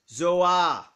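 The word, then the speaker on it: ζῷα: amen amen so the greek word used is pronounced zohar a plural nominative neuter noun meaning animals pronounced zouan for a single animal as in verse 7.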